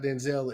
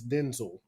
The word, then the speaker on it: Denzel: That the actually just heard that Denzel's name is not Denzel, it's Denzel.